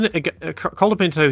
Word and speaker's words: Colapinto: He's Colapinto. He's of Italian extraction. Argentina does have some quite inventive pronunciations, even of Spanish names and words. But yeah, I'll just say Franco Colapinto.